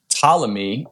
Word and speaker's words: Ptolemy: His name's Ptolemy. It's actually spelled with a P, Ptolemy.